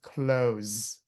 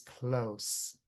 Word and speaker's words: close: If it's a verb, then close, right? With a Z, close. If it's an adjective, then it's close. C O S with an s sound.